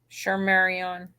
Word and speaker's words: Shardayreon: that had my twin, and how do you pronounce her name? Shardayreon.